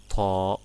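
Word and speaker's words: ط: Then Sad and its sister Dad, and Ta, it is like T but it's hard, and Va.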